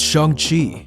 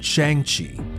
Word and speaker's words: Shang-Chi: that's a good thing it's chung chi if you've never heard of shang chi before it's probably because you were pronouncing it chiang chi it's also known as